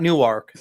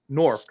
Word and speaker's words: Newark: Fucking it's beautiful, and it's and anybody that's not from this area, it says Newark, but it's not Newark. It's like it's spelled Nork. It's Newark. That's basically how you pronounce it.